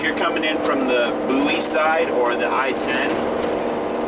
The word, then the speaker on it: Bowie: e like David Bowie for example but it's pronounced buoy like b o u y like in a